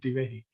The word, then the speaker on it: Divehi: you would pronounce wrong, you did pronounce it correctly. It is indeed Divehi.